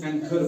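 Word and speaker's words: anchor: हमारे पास एग्जांपल्स है ए ए सीओ इसको एंकर पढ़ते हैं क्या पढ़ते हैं एंकर एंकर नहीं है बल्कि एंकर है एंकर ह ह की आवाज नहीं निकालनी है ठीक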